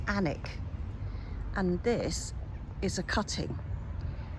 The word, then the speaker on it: Alnwick: This is called the Annick rose. I think it's spelled Alnwick but pronounced Annick.